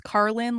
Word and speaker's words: Karlyn: It is Carlin like George Carlin except spelled way different.